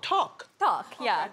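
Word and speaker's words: tteok: rice cakes right how do you say it duck how do you spell it t-t-e-o-k oh talk talk how are you yeah okay exactly now what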